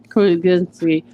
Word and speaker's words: Krasinski: And I also agree, because just having John Krasinski, I keep saying his name wrong right now, Krasinski, do it messed up,